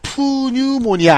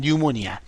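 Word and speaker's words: pneumonia: 폐렴은 왜 중요하냐면 스펠링이 이렇게 시작되는데이 피가 묵음이에요. 자, 그래서 요렇게 쓰고요. 읽어 보도록 합니다. 어떻게 읽으면 돼요? 자, 푸뉴모니아 아닙니다. 그냥 뉴모니아. 류머니아로 읽 읽으시면 되겠어요.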